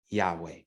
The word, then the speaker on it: Yahweh: y h w h no vowels were indicated in hebrew at this time so there is some debate on how to pronounce that name but most conclude it is yahweh the third skeptical response